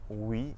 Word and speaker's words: oui: OU at the start of the syllable makes a W sound, just like in the words woman and West. Some French examples of this are oui and ouest.